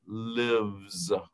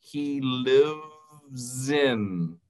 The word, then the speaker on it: lives: Live tiene la B, es y la S tiene el sonido de z.